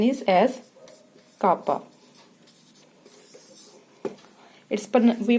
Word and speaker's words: kappa: हैं, प्रोनाउंस करते हैं, it's pronunciation is एज kappa. We pronounce it as kappa, and its denotation is this.